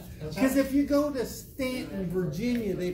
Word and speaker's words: Staunton: is that closest stan the u is silent because if you go to stanton virginia they pronounce it